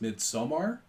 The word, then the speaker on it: Midsommar: And I believe actually it's pronounced Midsommar, but I'm going to still. say Midsummer Everyone's because saying I'm not Midsummer.